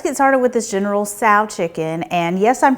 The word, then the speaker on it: Tso: Let's get started with this General Tso Chicken, and yes, I'm pronouncing it right.